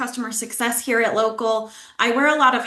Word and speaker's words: Locl: Um but you know what is local? Um and why is it spelled like that? Did I pronounce it correctly? It is local and we are here to help you optimize your Google business profile.